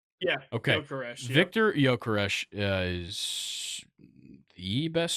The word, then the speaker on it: Gyökeres: Just Victor Gyökeres. That's how you say it, correct? That's what we decided? Yeah. Okay. Gyökeres, Victor Gyökeres is the best scorer in Europe right now in the last...